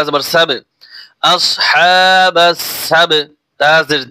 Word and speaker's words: السبت: বা জবর সাব, আসহাবাস সাব, তা জের তি, আসহাবাস সাবতি। ওয়াকফ করলে হরকত উচ্চারণ হবে না। কিরকম উচ্চারণটা হবে একটু খেয়াল করুন, আসহাবাস সাবত, সাবত।